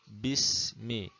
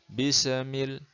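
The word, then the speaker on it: بِسْمِ: Mestinya bunyinya bismi, bismi, bismi. Jangan bisa, bisamil, bisa.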